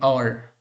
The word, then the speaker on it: hour: For example, let's see, an hour, an honorable person, an honorary, an heir, right? So here an hour means O-U-R, okay. H is silent now.